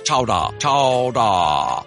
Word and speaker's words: chowder: turned into new england clam chowder today pronounced regionally as chowdah oh that's so fun